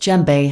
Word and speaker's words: djembe: of mali in west africa the gem normally pronounced jembe has become one of the most well-loved hand